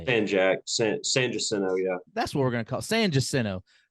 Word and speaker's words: San Jacinto: San Jacinto, yeah.